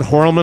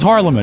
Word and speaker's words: Harleman: Well, is it Horlman or Harleman? No, it is Harleman.